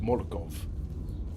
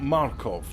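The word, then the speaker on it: морков: It's phonetically it's written Morkov. Now, as far as I'm concerned, that's pronounced Morkov.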